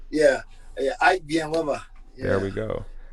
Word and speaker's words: Villanueva: Ike Villanueva. There Yeah. we go. Not Villanueva. Villanueva, yeah. Villanueva's, you'll see it more Americanized, but back home, Villanueva. That's how they say it back home.